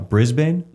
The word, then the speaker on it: Brisbane: It was in, I'm gonna say it wrong, Brisbane. Brisbane.